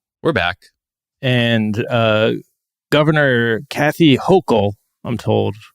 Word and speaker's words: Hochul: And Governor Kathy Hochul, I'm told, pronounced like yokel. Not like polycule.